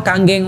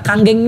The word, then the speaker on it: Kangen: apa kanggeng ya atau kanggeng Water nah kanggeng ini bukan kangen bacanya Bapak Ibu sekalian ya kebetulan namnya Andika pun